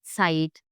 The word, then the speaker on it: Zeit: Z in German always sound like ts, ts. Yeah. Entschuldigung, excuse me. Yeah. Ts. Like Zeit, Zen, zusammen.